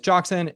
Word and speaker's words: Joxan: So, Chris, my name is Joxan. If I had to explain how to pronounce it, it would be jock, like job, but with a K, and san, like the Japanese suffix for sir.